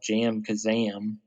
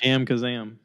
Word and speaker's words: JamKazam: I got my audio interface the other day, and we're using a computer program that's called Jam Kazam.